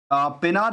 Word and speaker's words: Pennar: देखिए, यहाँ पे जिस कंपनी को हम ज़िक्र करने वाले हैं उसका नाम है पेनार इंडस्ट्रीज़। इसको पेनार कहिए, पिनीर कहिए, लेकिन जो भी अपनी-अपनी प्रोनाउंसिएशन है उसके मुताबिक मैंने कह दिया।